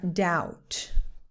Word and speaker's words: doubt: The pronunciation of this word is debt or doubt. The B is completely silent, completely, not even a little bit.